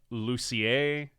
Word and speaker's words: Lucier: Is the R pronounced, or is it more French? It's more French. Okay. So you see Lucier, last name.